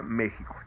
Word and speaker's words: México: con jota o sea se escribe méxico y se pronuncia méxico así le pidieron a